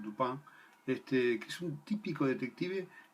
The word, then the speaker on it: Dupin: Auguste Dupin, que se escribe Auguste Dupin, en francés es Dupin, que es un típico